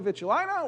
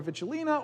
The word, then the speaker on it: vitulina: And so that's for the species of harbor seal, which is Phoca vitulina or vitulina or vitulina. We heard 3 different pronunciations of it while we were talking about this.